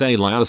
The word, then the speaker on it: Elias: So Elias is a fairly common name, pronounced Elias or similar.